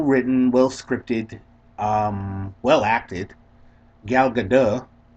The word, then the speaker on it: Gal Gadot: Gal Gadot. In case you ever wonder how to pronounce her name, because think Bridget Bardot, but with a G.